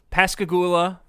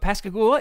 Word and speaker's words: Pascagoula: So in 1973, Pascagoula, I think that's the correct way to pronounce it, Mississippi.